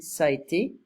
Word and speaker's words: ça a été: Plus tard, ça a été, I don't pronounce the middle, I'm just saying, ça a été.